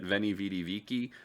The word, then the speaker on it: Veni, Vidi, Vici: And I know that sounds weirder than you've normally thought of it, Veni, Vidi, Vici, but that is the proper pronunciation for the time period. The V would be pronounced as a W.